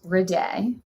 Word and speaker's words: Riddei: goes with it so it's pronounced redey redey that sounds so french